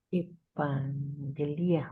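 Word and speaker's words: εὐαγγελία: Evangelía, ¿Se acuerdan que cuando hay dos gamas, se puede decir N, evangelía, evangelia.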